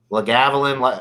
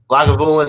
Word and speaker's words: Lagavulin: of those i think it was the la gavilan uh the one you said lagavulin yeah i'm sorry i'd like pronunciations off but that was like